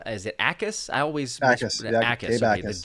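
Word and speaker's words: Jacas: I always Akis. Yeah, Akis. Okay, Akis. The J is silent. I pronounced it previously as Jackus, and there we got in trouble for that one.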